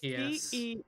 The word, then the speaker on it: Geas: I don't know how this is pronounced. Is it Gias, Geese, or Geese? Gias.